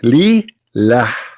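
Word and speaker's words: لله: The first one pronounced as Allah. The second one it says Lillah.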